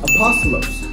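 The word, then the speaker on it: ἀπόστολος: in the Roman Empire in Greek it is pronounced apostolos and it means commencements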